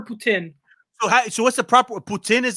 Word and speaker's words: poutine: the proper putin is the proper way of saying it in french it's put it put in okay here's a we're not here but in america it's like poutine i don't know if that's yeah you kind of anglicize it but yeah in french it's putin oh so poutine would be the anglo eyes yeah see i'm learning